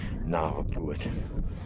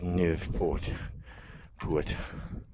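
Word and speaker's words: Naauwpoort: salmon apparently nerve Port I was always saying it wrong I was saying na put it's nerve Port put um is where the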